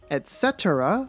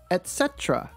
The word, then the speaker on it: etc.: was a trick question there are two ways to pronounce this etc with four syllables or the reduced version etc with three syllables did you answer all